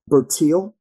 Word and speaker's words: Bertil: Um, you mentioned, and if I'm saying her name wrong, forgive me. Correct me. Bertil.